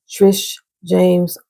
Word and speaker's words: Trish James: So check out Trish James Oracles. I always say Trisha, pronounce the E, and James with the I, TJO Oracles.